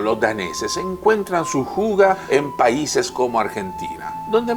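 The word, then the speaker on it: hygge: vivido en el programa de hoy se pronuncia fuga y a menudo se le traduce como lo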